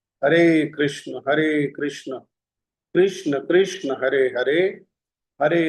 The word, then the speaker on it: कृष्ण: कृष्ण का उच्चारण में थोड़ा सा त्रुटि होती है। तो इसको अभ्यास करें। कृष्ण, हरे कृष्ण, हरे कृष्ण,